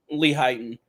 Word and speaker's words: Lehighton: Layton, PA. Yeah, Lehighton, PA. Right next That's to how you say it, Lehighton? Yeah, Lehighton.